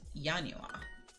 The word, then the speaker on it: Januar: einstian who is there and January shocker is yanua let me give you